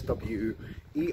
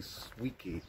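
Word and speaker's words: Swieqi: the spining It's s SW e i uh Qi okay so and of course when I first came here I used to uh pronounce the Q so I used to say swey um it's actually swe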